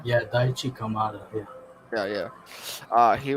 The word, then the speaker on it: Daichi Kamada: stitch and how much um how do you pronounce kamada daishi kamada yeah daichi kamada yeah yeah yeah uh he was very good